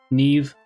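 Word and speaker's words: Nieve: Neve rhymes with Steve.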